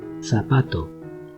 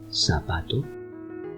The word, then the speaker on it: zapato: I will pronounce twice with a Spanish accent and then twice with a Latin American accent. So, please repeat after me. Zapato, zapato, zapato, zapato, zeta, zeta, zeta,